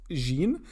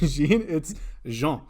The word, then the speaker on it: Jean: i have a special guest his name is jean and a lot of people mispronounce his name especially on his podcast and they say it's jean but it's not it's jean and john he also has a podcast and